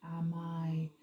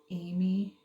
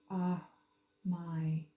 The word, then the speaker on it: Amy: You have Shax and Amai. It's not Amy. It's pronounced Amai.